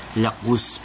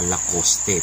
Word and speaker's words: Lacoste: yung pa- advertisement nila lakos pala ang pagbigkas nito Hindi pala loste per kung babasahin talaga natin loste siya pero hindi pala it's lacus okay Ayan ito ang sling